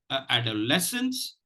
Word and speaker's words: adolescence: to you know to uh stress the second syllable and I told you why it is not stressed so please practice this word add a lessons and uh just just something before we go